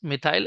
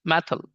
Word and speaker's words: methyl: methy group and uh in Pakistan and India it is uh pronunciate as methy actually it is correct pronunciation is methyl so this is the